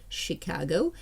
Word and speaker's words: Chicago: І слово Chicago, і озеро Michigan. Ch читається як Ш.